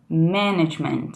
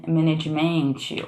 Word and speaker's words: management: Porque, por exemplo, aqui, ó, em management, é management, né? E não management, ou, por exemplo, comfortable, que é comfortable.